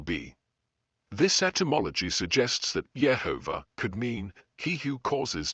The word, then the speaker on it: Yehovah: the consistent vocalization as Yehovah across the Masoretic manuscripts suggests that it may reflect an older tradition of pronunciation. The evidence for Yehovah as the correct pronunciation.